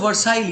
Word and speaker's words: Versailles: Versailles is pronounced as Versailles.